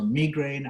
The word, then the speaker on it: migraine: or multiple sclerosis or migraine i call it migraine if i come back to that you'll just i'll hopefully persuade jim to pronounce it correctly the world's becoming globalized and